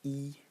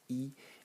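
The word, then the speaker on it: 衣: I mean, the semantic element, and I'm sorry, it's pronounced E. The semantic element is pronounced E, and it means garment or clothes.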